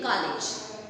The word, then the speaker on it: college: Many of us we pronounce as college, right? It is not ka, not a. It is o, isn't it?